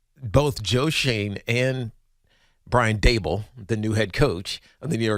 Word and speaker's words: Daboll: And it is Daboll. Not Daboll. Brian Daboll. Like Fable. It's interesting. Table. One of the things, exactly. One of the things that both Joe Shane and Brian Daboll, the new head coach